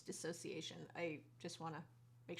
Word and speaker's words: dissociation: It's not disassociation, it's dissociation.